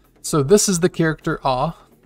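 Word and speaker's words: あ: this is the character ah it's the first kana and the alphabet uh it's pronounced like the a in car ah or the a and awful awful and here's the character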